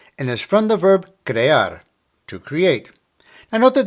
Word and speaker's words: crear: Crear, crear.